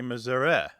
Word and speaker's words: Missouri: They say Missouri, more like the E in get or met.